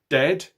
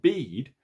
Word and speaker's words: dead: sounds like bird and dead it's said like bed not beed and for goodness sake don't call it deed watch out for meat